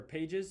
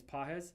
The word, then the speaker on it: Pages: Pah or pages. They say his name is Pahz.